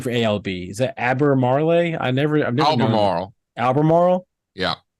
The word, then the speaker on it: Albemarle: all right uh how do you pronounce a l the company name for ALB is that abber Marley I never know Albemarle yeah Albemarle okay Albemarle for if you asked about that